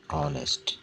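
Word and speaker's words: honest: क्या होना चाहिए कि यहां पे उच्चारण को विशेष ध्यान देना चाहिए य यहां पे जो उच्चारण लिखा हुआ है वह लिखा हुआ है ऑनेस्ट ऑनेस्ट ठीक है तो नेस्ट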